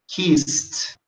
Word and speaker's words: kissed: Um outro verbo tem essa característica é o verbo kiss. Tá aqui, ó. Que você falaria kissed, kissed, ok? Só para você saber pronunciar corretamente.